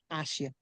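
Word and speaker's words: Asia: দুয়ে ভুকালি তারা হচ্ছে ভুকালে ভুকালে থাকার কারণে মাঝখানে এস থাকার কারণে এস এর উচ্চারণটা স এর মত হয়ে যাবে আশিয়া কি হবে আশিয়া তার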